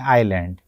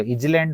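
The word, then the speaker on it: island: हम उच्चारित करते हैं आइलैंड जबकि लिखा गया है आईएस एल एन डी उस हिसाब से तो इजलैंड होना चाहिए किंतु हम उच्चारित करते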